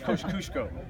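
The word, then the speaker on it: Kościuszko: a lot of people could say his name Kos kushko right Kos kushko and the only reason I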